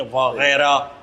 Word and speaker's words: Wagera: तो इंग्लिश में अगर वगैरह लिखेंगे तो GHAIRA लिखेंगे, वगैरह।